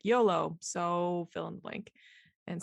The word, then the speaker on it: YOLOso: my shop is called YOLO so a lot of people always ask me how the heck you pronounce it and it's yoloso comes from YOLO which is of course you only live once and then uh kind